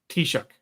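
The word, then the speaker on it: Taoiseach: ask you to uh help me with the pronunciation uh he returned to the office of a tishuk tishuk see I I I would not have found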